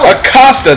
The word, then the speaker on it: Acosta: And he is wrestling Acosta? I believe so. Acosta, that's how you say his name.